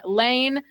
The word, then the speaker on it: Laine: Just search Laine, no E at the end of, and Laine spelt like the former Winnipeg Jets player, Patrick Laine. And yeah, it's actually pronounced Lane, not Line.